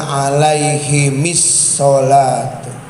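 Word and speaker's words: عليهمِ الصلاة: madamatil ayyamu alaihimis salatu wal harfu sakin iza hurrika bil kasri dibacanya alaihimis salatu.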